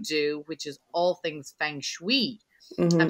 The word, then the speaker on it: feng shui: things that you do which is all things feng shui i'm saying right oh good okay because one